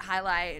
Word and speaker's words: jai alai: really fast game but so they called it highlight and most people can't pronounce it because it's J A I L I A or L A I so you know